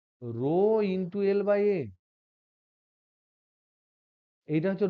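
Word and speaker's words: rho: তাহলে দেখো, তাহলে আমরা লিখছি আর equal to রো ইন্টু l/a। এইটা হচ্ছে রো, উচ্চারণ হচ্ছে রো।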